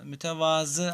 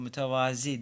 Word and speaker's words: mütevazı: evet Ceylan eşleştirebiliriz sonra mütevazı arkadaşlar alçak gönüllülükle ilgili zaten mütevazı biri bu mütevazi diye okunuyor yanlıştır Arkadaşlar doğru yazdığımı tava